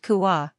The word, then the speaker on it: C/UA: That's exactly what C/UA, pronounced Kuwa, enables.